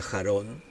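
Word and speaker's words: חרון: que significa ardor arder es una palabra hebrea se pronuncia jarón y significa eso el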